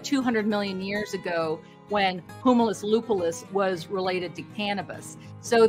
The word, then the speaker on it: Humulus lupulus: And the interesting thing is that I found with hops, it's the scientific name is humulus lupulus.